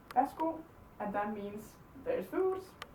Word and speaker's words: værsgo: The Danish version is værsgo. Vær så god is the actual writing of it, but we just say værsgo.